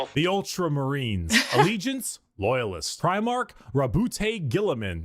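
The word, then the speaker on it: Roboute Guilliman: Rabbout Gillaman. That's how Yeah, that's how it's said.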